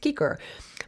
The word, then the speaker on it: cicer: that's why i'm saying kiker would have been this would have been pronounced kiker but over time many